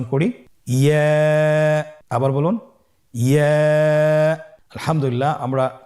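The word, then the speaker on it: ي: ইয়া হরফটি উচ্চারণ ক্ষেত্রে বারিক হবে এবং এক আলিফ টেনে পড়তে হবে। ইয়া, আবার বলুন ইয়া।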